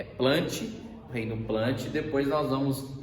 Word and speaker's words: Plantae: plantas ou implante ter a pronúncia correta é plantes reino plante depois nós